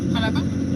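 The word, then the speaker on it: Xalapa: K A L A P A Halapa. No, halapa is spelled with an X.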